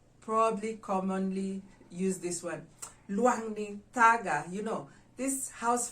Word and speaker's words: luangni: luau we'd call it luangni so how do we write it out we write it or spell it we write it as l u a n g n i luangni luangni so if you